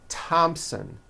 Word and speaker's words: Thompson: Although these next words and names are spelled with a TH, they are pronounced as if they were spelled with a normal T, like that. And these words are Thomas, Thompson, Teresa, Thailand, Thames, like the river, Esther, and thyme, which is a spice.